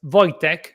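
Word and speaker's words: Wojciech: My first name pronounces uh as Voytech.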